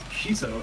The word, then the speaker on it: Kiso: Uh uh the artist name is Kiso. Actually, I've just been informed that's how you pronounce it.